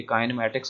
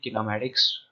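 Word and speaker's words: kinematics: ये काइनेमैटिक्स नहीं है, किनेमैटिक्स वर्ड है, इसकी प्रोनाउंसिएशन है।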